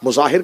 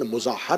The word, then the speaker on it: مظاہر: ہیں۔ حبیب ابن مظاہر، مظاہر کہا جاتا ہے لیکن مظاہر ہے، اس کو مظاہر کہہ دیا جاتا ہے لیکن اصل تلفظ کا مظاہر ہے۔ حبیب ابن مظاہر ایسا